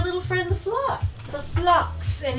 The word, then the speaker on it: phlox: friend the floor the flocks and it is flocks not floss because I thought oh it's spelled p h l o x it's probably floss I mean flocks it seems too obvious but anyhow thank you